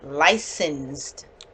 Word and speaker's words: licensed: So, this word is licensed. So that's, License. yes, that C makes the S sound because there's CE. So it makes the soft C.